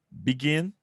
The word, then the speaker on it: begin: tem a sílaba tônica no final. Begin, begin, begin. Vou repetir mais uma vez. Begin, tá bom? Percebam que tem uma sílaba tônica no final, que é o gin, ok?